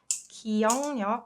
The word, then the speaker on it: 기억력: So if you notice, the way I pronounce this word is 기억력, right? 기, uk softens to 응, and 리을 sound gets replaced with 력, just because it's more convenient to pronounce it that way.